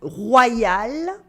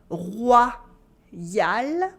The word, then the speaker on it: royal: Anyway, the same pronunciation happens with quite a few other French words such as loyal, easy to translate, repeat after me, loyal, loyal. Another one is royal, royal, royal, and incroyable for incredible.